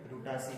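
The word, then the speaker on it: Rutaceae: CEAE, इसे pronunciation हम रुटासी ही करते हैं, पिनासीए करते हैं, और इसके बाद करते हैं लोरासीए।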